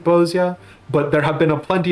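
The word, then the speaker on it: Bozja: There's some reason to believe that Bozia is based off of Polish inspirations, which is a part of the reason why I pronounce it Bozia.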